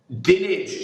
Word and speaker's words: Dinage: I need to know whether you are Dinage or Dina. Which is it? What's the correct? Dinage, I believe, is the correct pronunciation.